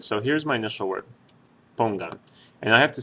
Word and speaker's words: pongan: Now you should be able to hear that the stress in that word is on that syllable, pongan. Right now, there are only 2 syllables, pongan. And this is the last syllable. Let's ignore this say for a second, okay? Let's just pretend it's pongan. There's pongan, 2 syllables, and since the stress is on the second syllable back from the end, or the